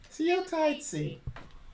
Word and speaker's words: Seo Taiji: them what they've won sorry you hear this see you tight see that's how it's pronounced ladies and gentlemen this is the second